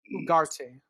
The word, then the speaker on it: Ugarte: I don't know how it's pronounced, but it's spelled Ugarte. Ugarte, like Oh, okay.